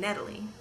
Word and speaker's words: Natalie: The ah sound also shows up in the first syllable of Natalie. So when my Dutch family is around, I become Natalie.